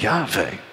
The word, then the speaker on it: Yahweh: The Dead Sea Scrolls revealed that it was Yahweh, as others had taught and thought, with two syllables.